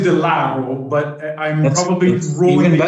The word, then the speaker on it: de Lauro: So today I have Gerry de Lauro.